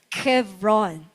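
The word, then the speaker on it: חברון: The name Hebron in Hebrew it means comes from the Hebrew root ba HBR lang yung kanilang spelling diyan but it's pronounced as Kevron.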